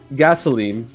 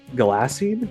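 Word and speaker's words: Ghalasine: The Shard was the heart technically yes uh gasoline no that's that's not how that would be pronounced uh G gassin yeah gassin that's right spell that for me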